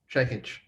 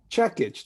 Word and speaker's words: Čekić: your last name why don't you tell us checkage checkage that's what i thought i probably said it